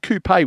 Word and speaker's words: Coupe: C O U P like Coupe without the accent. Does that that sound fair? That's it. Just straight coupe and uh and friend of the of the of the boats.